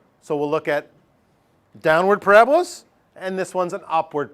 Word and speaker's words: parabola: curving shape, very symmetrical, called a parabola, not a parabola. When people are first learning about this, they sometimes say parabola. Because it looks like it should be pronounced parabola, but it's parabola. You got to put the accent on the right syllable.